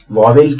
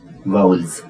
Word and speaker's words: vowels: वाउल्स कहा जाता है गलती से कई बार इसका उच्चारण वावेल किया जाता है और हिंदुस्तान में आपको 10 में से आठ लोग वावेल बोलते हुए दिखाई देंगे पर दरअसल इसका जो सही उच्चारण है वो है वाउल्स ए एक वाउल है